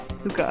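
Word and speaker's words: Lucca: Do y'all pronounce it Lusa or Luca? Luca.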